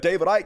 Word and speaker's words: Icke: David Icke, pronounce it Ick.